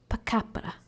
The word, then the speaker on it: pakapara: It's pronounced pakapara. Yes, this word. Yes, you have to enunciate the R a bit more.